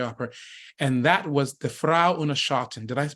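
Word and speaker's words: Frau ohne Schatten: go to the Opera and that was the Frau unashatin did I pronounce that correctly you did and talk about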